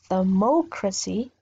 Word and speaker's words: democracy: Democracy. My strength will be in this O, democracy, and democratic.